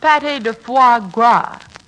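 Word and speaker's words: pâté de foie gras: Suzette and Goose lovers Patty de Popa party that's pronounced Patty de foie gras leave us not quarrel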